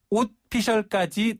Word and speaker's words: 옷피셜: 그러니까 오피셜이 아니고 네. 옷피셜.